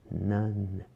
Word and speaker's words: none: None, none. E o E não é pronunciado.